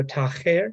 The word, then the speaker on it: Taher: I think it would have a guttural ha to it. So Taher. Higher?